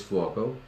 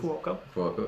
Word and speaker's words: Fuoco: So for those of you who don't know, my last name is Fuoco. And you said it right. Congratulations. Fuoco.